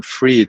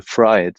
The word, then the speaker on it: Fried: It's Fritz Fried, actually, very German. But you can call me Fritz. So yes, I said it wrong. No. You know the name Fried, the surname. It's actually Fried, not Fried.